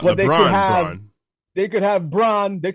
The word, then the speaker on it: Braun: Well, it's pronounced Brown, but spelled Braun. Not but LeBron. Braun.